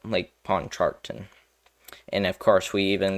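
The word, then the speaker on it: Pontchartrain: but Lake um Pawn um charton I think that's how you say it lake pawn charton and of course we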